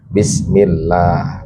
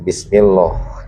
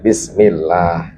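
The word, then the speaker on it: بسم الله: Kalau sebelum lafaz Allah berbaris domah atau fathah, maka tabkhim. Kalau setelahnya sebelumnya kasrah baca bacanya tarkik. Nah, kalau dalam bismillah di sini lafaz Allah itu ee sebelumnya berharkat kasrah maka bacanya tarkik. Jadi bunyinya bismillah bukan bismillah ya, tapi bismillah.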